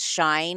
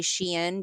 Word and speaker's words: Shein: I know that we joke about my pronunciation on a lot of things, but I really don't believe it's pronounced Shine. I say Shein because back in the day, I was actually a customer when it was called She Inside.